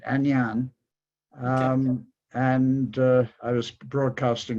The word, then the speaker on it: Ainane: Yes, that was, they pronounce it Agnan.